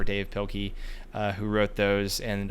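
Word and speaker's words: Dav Pilkey: Um it's either I think it's pronounced Dave Pilky um the author Dav or Dave Pilky uh who wrote those and um those were fantastic.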